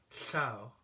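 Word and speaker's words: llew: feature of Welsh is its double L which is pronounced as in Chau which means lion and it's a very odd sound it took me quite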